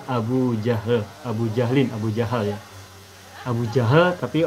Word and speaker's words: Abu Jahal: jahu Abu Jahal ya Abu Jahal tapi orang Indonesia biasa menyebutnya Abu Jahal kalau seharusnya bacanya Abu Jahal cuma untuk memudahkan pengucapan jadi Abu Jahal Abu jahlin Abu